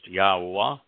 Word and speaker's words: Yahowah: You can either search by Yada Yahowah series, Yahowah, that's how God's name is pronounced, Yahowah, or by my name.